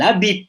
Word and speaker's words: habite: Voilà, les Français ne prononcent pas le H, c'est muet. Elle habite ya, walaupun tulisannya ada hanya.